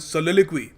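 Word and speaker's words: soliloquy: अब पहला इसमें जो वर्ड है काफ़ी इंटरेस्टिंग है, कैसे प्रोनाउंस करते हैं, सोलिलिक्वी। या सोलिलिक्वी का देखो मतलब होता है जैसे कोई आदमी कमरे में बैठकर खुद ही से बात करे, पागलपन में नहीं।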